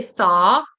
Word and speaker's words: thaw: I would say thaw a thaw out. Thaw out. Do I pronounce a W? No, I wouldn't pronounce a W. Thaw out. So, you just pretend that there's no W.